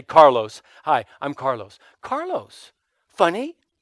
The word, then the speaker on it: Carlos: hi what's your name carlos hi my name's carlos said if i say it like that i've already distanced you so i'll say carlos hi i'm carlos carlos